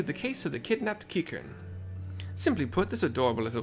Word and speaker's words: Qiqirn: I've always wanted to pronounce it Kikrin, but it's Qiqirn. Kikern.